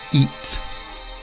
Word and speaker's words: eat: have it and eat now if you say these two words and they sound the same then that is wrong so the first one it is not an e sound this I is an earth like a fourth tone in Chinese but it where as the word eat is an elongated e eat so practice saying this